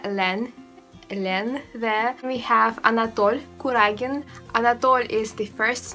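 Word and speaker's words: Anatole: they call her alen elen there we have anat kuragin anat is the first name and uh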